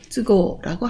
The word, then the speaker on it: 都合: 그리고 형편이나 사정을 얘기할 때 쯔라고 읽어서 쯔고라고 합니다.